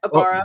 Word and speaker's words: Abara: name before we we started the Pod Amanda abara is that how you pronounce it oh yeah abara sorry I said it you can call